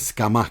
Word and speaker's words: Scamacca: I just want to, first of all, to everyone who listens, his name is Scamacca. Yeah. You're not, Carlo's just using his Neapolitan dialect to pronounce his name in the most Napoli way ever, which I absolutely love.